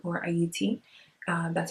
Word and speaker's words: Haiti: French side is called Haiti or Haiti. Uh that's how it's supposed to be pronounced. The H is silent.